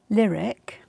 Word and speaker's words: Lirik: i'll see it yeah so this one is lyric and it's spelled li rik and i've got the